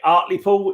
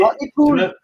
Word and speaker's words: Hartlepool: Hartlepool. Remember this from the conversation we was having on Friday night? Yeah, from Hartlepool, yeah. If you're from Hartlepool, you don't say the H and you don't say the T either.